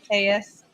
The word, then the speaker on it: Telles: don't forget your uh emotion faces Mr Tellus tus so we did get confirmation of how he of how to uh pronounce his name he pronounces it t yes